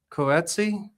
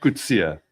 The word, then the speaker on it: Coetzee: I would say Coetsi. It's It's a common way of misprononunciation. Okay. How do you say it? Kia. Kia. Yeah. Kia.